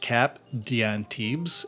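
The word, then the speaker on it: Cap d'Antibes: It's pronounced cap dantibs and it has a more uh oceanic fragrance to it.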